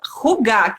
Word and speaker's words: Hygge: E a gente colocou no YouTube, e assim, falando propriamente, é rugar que se fala. Só que aqui no Brasil ninguém fala, tá? Ninguém fala porque é impraticável, né? Rugar fica muito esquisito.